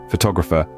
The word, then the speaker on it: photograph: includes words like photograph photographer and photographic now let's play with these words in photograph the stress is on the first syllable photograph can you hear that emphasis on PO great now let's move